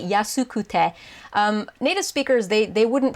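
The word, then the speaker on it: 安くて: So if you get confused, if it doesn't sound like I'm saying kute and I'm just saying kte, it's because I am just saying kte, because that's how native speakers pronounce it.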